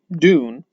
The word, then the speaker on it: Dune: been pretty consistent and dune is dune it's pronounced dune there may be another linguistic way to do it but i think dune is fine and i think most